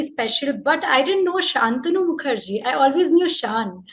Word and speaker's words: Shantanu: name in school though in school it was spelt without the age so in school everyone called me santanu you know being in